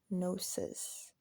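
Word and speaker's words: Gnosis: The distinction between religion and spirituality, specifically Nosis. Nosis spelled with the G N O S I S.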